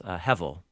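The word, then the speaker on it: הבל: The Hebrew words, simple to say, it's not hard to pronounce hevel. - Hevel. - Hevel. H-E, it's technically the letter B of the Hebrew alphabet, but it pronounces like V.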